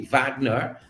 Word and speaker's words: Wagner: We know as a fashion designer, Michelle Cole, and now Michelle Cole Wagner. I know German, the W is pronounced as a V, Wagner, and the notation we have here, it says that again, this is a collaboration.